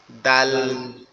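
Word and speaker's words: د: যদি নোক্তা না থাকে তাহলে এটাকে কিভাবে উচ্চারণ করব? এই জিহ্বার আগাটা সামনের উপরে দুই দাঁতের গোড়ার সঙ্গে লাগবে, লেগে উচ্চারিত হবে দাল, দাল, দাল, দাল।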